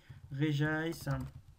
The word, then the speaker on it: Regice: Regice. On ne prononce pas Régis, ça c'est le méchant.